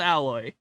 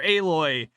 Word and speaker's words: Aloy: They modeled nipples on Alloy. Or Aloy. I'm sorry that you name your character Alloy and pronounce it fucking weird.